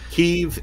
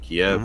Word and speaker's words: Kiev: Kiev is the Ukrainian pronunciation, Kiev is the Russian pronunciation.